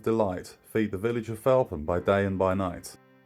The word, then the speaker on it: Felpham: Well, locals pronounce Felpham.